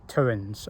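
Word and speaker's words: Towans: out the following morning the towins n t-o-w-a-n-s turins i think that's pronounced correctly and then a little walk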